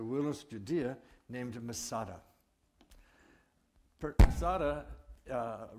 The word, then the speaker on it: Masada: Masada fortress is pronounced Matsada, and the word Masada simply means fortress.